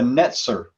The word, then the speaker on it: Netzer: Jesus is actually the Netzer. That's spelled N-T-Z-E-R. That's actually the Hebrew word.